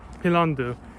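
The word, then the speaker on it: 핀란드: country you know since korean language doesn't really have a v or an f sound and just in general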